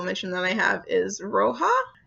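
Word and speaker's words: Rojh: I think it's Roja, because it's spelled R-O-J-H, but it takes place in Mexico in 1870. So I believe the J is an H, because that is how Spanish works.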